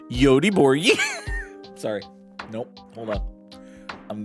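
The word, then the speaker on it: Göteborg: Uh, Goatborg is weirdly pronounced Yodi Borgi.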